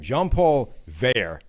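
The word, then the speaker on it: Jean-Paul Veilleux: jean-paul hang on he told me how to pronounce his name jean-paul vere just spelled v-e-i-l-l-e-u-x nice um says all right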